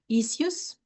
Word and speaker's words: issues: What's the best way to manage these issues? Yes. One thing, Angela, this SS you pronounce shoes. Issues. Issues. Uhhuh. Issues. Yes, that's correct.